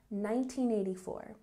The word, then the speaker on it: 1984: 1984, sometimes we shorten the sounds with long numbers in fluent English, so this N sound is a bit cut off. So it sounds like 1984. The N is very soft. One more time, 1984.